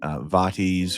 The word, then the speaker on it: vate: be more Latin inspired, that a Vate is an acceptable English pronunciation. Anglicization of that word. And I like Vate as well because it sounds like fate.